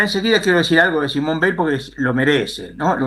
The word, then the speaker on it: Simone Weil: Weil con B corta, pero se pronuncia igual, por lo tanto estamos aptos para la confusión. En este caso es Simone Weil, que es las dos judías, por supuesto, francesas las dos, por supuesto.